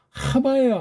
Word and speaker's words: 하바: 그러는데 또는 해와 해와 하바예요 하바 소리가 원리에 가까울수록 발음이 좋습니다 하마 하바라고 하셔야 돼요 절대 바르면 아는 사람이